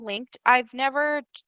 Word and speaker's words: LingQ: It's spelled like LINGQ. Some people say LinkQ, but the owner of the app he says like Link.